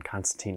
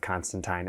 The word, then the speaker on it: Constantine: As an uncultured American, I will be pronouncing his name as John Constantine a lot in this video.